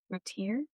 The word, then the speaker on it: Routier: Have you ever heard about Darlie Routier?